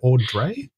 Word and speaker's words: Audrey: And am I pronouncing it right when I say Au Dré? Is that how it's pronounced?